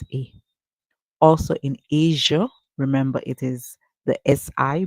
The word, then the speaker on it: Asia: say a as Asia there are persons who pronounce this word as ASA and that's where they use the S sound guys uh because it's a name persons would tend to mispronounce however the pronunciation is Asia Asia so if you have been speaking all